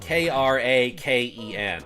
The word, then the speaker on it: Kraken: Kraken I love that when I was younger I pronounced it Cen just cuz it's spelled k r a Ken right so like how am I supposed to know that that's pronounced Kraken and it wasn't until Pirates of the Caribbean that I was like that I ever heard the the the word out loud that I ever heard